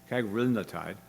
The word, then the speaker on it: cagrilintide: only 5% weight loss, and how do you pronounce that? Cagrilintide, cagrilintide, thank you, Mohit.